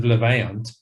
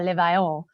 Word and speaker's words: Levaillant: The narrator had said Levalin testicular, and obviously not being a birder, we went back and said it's got a slightly more French sound, and that's how you pronounce it, because he'd never pronounced these words before.